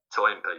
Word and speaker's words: Toynbee: Arnold Toynbee, yeah.